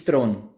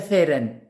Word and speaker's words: Theron: Throne obviously and means please it's thrown okay what is a Theron there's no such thing as a theorem there's only a throne